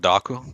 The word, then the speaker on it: Dooku: Because if Count Dooku was intended, why the hell wasn't he in episode one? It's pronounced Count Daku coming out.